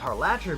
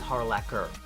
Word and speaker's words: Harlacher: her name wrong before her name is erica harlacher with a hard k sound um yeah i used to think it was harlacher because i had spelt but hmk youtuber who does kingdom hearts and zelda stuff uh he actually had her on as a guest and she pronounced it for him to make sure that it was correct and it is harlaquer so yeah but i